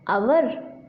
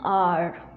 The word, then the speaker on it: our: आवर। Our is an incorrect pronunciation. The correct pronunciation is R.